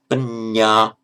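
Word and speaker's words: paññā: Panya, be careful to pronounce it double.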